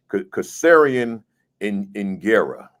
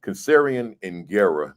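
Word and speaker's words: Kasserian Ingera: This is how you say it, because Kasarian Ingera. Kasarian Ingera, meaning how are the children, right?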